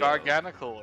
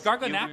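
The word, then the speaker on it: Garganacl: Garganical is pronounced Garganical. Illumise is pronounced No, it's Garganackle. Illumise. Yeah, it's Garganackle because NACL.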